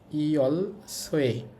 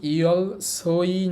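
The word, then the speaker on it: 열쇠: দেখেন এখানে ওই শিওতের সাথে কিন্তু ও ই আছে, বাট এটা এক্সেপশনাল, এটার উচ্চারণ ও ই হবে না, এটার উচ্চারণ হবে ওয়ে। এই জন্য ইয়ল সোই না হয়ে এটা হবে ইয়ল সোয়ে, অর্থ চাবি।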